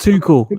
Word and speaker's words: Tuchel: guy one day okay it's pronounced too cool apparently what is it two